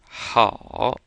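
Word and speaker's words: 好: this a and o kind of sounds like ow with this o here being very light which means you shouldn't close your mouth and purse your lips as you finish saying it you want to keep your mouth open at the end so we come up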